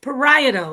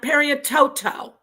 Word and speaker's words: parieto: No. It's parieto. It's not periototo.